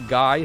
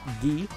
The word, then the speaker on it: Guy: his actual name is gee i had known his name was ghee prior to that because his japanese name the katakana is spelt ghee so that's how you pronounce his name as ghee and also i doubt